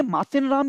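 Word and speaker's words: Mawsynram: एक तो आपने मासिन राम या मौसिन राम, ये दो प्रोनाउंसिएशन है, इनको आप याद कर लीजिए।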